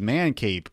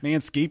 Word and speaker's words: Manscape: Like, hey, this is Man Cape. Like, what? No. It's Manscape, Armando.